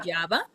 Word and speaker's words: guayaba: only time that we pronounce the U, it's with gua, for example, Wa. guayaba.